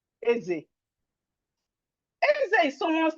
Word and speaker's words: Eze: So you pronounce it Eze. That's E-Z-E. You know, how will I pronounce Eze?